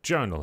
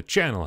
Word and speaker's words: Charnel: the trilogy of the Charnel House. I want to call it the Channel House, but that's not how you say it.